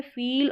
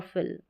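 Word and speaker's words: feel: फिर ये है फील और फिल, फील और ये है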